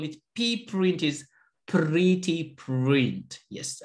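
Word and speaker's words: pprint: why we call it PR print is pretty print yes I just pronounce it like pretty yes it is pretty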